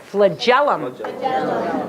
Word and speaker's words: flagellum: good everybody say it flagellum okay kind of like Magellan right flitted oh it's